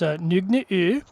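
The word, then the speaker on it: Nøgne: And I'm going to try and do the pronunciation as best as I can because it is Norwegian. And it's Nogne.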